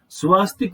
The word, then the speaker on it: स्वस्तिक: स्वास्तिक का जो सही शब्द है वो स्वस्तिक है, स्वा नहीं है। स्वा हमने उच्चारण में बिगाड़ रखा है उसको, सही शब्द है वो स्वस्तिक होता है।